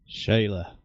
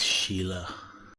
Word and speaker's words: Sheila: Shayla. It's Sheila.